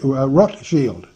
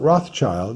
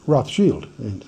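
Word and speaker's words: Rothschild: German that's Roth sh Roth Shield red shield we mispronounce it and call it Rothchild no it's actually not Roth's child it's red shield is what the term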